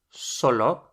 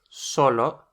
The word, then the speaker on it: solo: only or just solo if you take the accent of that first o the pronunciation is exactly the same solo but it now means alone so solo just like solo means alone as well solo uh the film Home Alone in Spanish is solo en casa alone at home no accent but the pronunciation just the same means alone how would